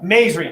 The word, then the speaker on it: Maizri: And then is it Maizri? Yeah. Did I say that right? Yeah. May-E? Do we do all those syllables? May-E's-Ri? Yes. Okay. Well, Two- no, made. Maizri, 2 syllables.